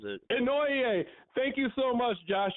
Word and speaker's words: Inouye: I can't pronounce his name, so I'm going to spell it for the people. Inouye. Huh? Yeah. Inouye, I think is how he says it. Inouye.